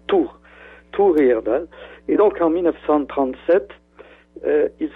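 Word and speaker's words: Thor Heyerdahl: l'expédition de thorerdal le grand ethnologue norvégien on prononce tour etdal ça s'écrit Tor th h o ça se prononce tour tour etdal et donc en 1937 il se trouvait à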